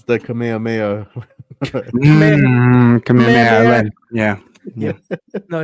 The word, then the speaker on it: Kamehameha: It's the Kamehameha.